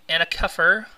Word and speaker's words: Ana Kefr: Rock addict radio and I have reys from anak cuffer on the line and did I pronounce that right you did thank you wow